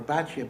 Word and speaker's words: Bitya: And Kalev's second wife in Eretz Yisrael was none other than Bitya, or Batya. Bitya is actually the correct pronunciation.